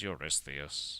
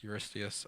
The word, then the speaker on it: Eurystheus: His name is Eurystheus. Eurystheus. Next Joshua cannot pronounce Eurystheus.